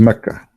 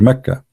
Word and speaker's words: Mecca: For the people of Quraysh, they pronounce the letter Qa as Ka in such places, like in this case here, Mecca. So all what they do, they switch the letter. So Makkah became Mecca.